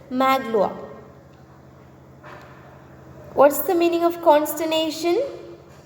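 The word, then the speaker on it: Magloire: pronounce it differently and as per the french pronunciation it is maglowa what's the meaning of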